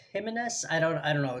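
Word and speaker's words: Jiménez: Uh, I'm not sure if I think it's Jimenez. Jimenez. I don't know. It's Jim. I know that a lot of times the J is pronounced as an H.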